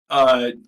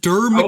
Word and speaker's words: Dermot: Dermont. Dermont. Dermot? Dermont. Yeah. Dermont or Dermot. Dermont? Okay. Dermont, I heard Dermot Kennedy. It's DERMOT. Dermot. No N.